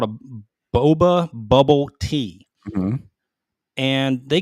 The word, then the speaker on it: boba: So this bubble tea it's company, Boba. No, you're right. It's Boba.